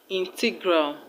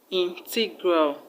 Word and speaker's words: integral: Integral. Integral. How many syllables does this word have? 3 syllables. Integral.